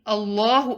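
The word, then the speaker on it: الله: saying allahu akbar make sure when he's saying allahu akbar the lamb in the name of allah should be pronounced heavy allahu it shouldn't be read as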